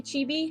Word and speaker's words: chibi: pronounced but uh yeah i'll just say chibi i think that's right so this is chibi